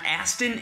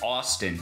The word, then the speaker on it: Austin: Austin and that's Boston don't mispronounce it it's not Aston it's not Austin its Austin the army gave them